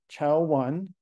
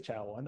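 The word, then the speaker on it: Chao1: debate in my lab I think it's cow one I think people sort of agree on that could be cow one I'm going to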